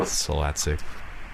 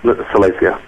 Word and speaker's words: Salacia: Salatsik. Is that how you say his name? Salatsik? Oh, Salacia. Salacia.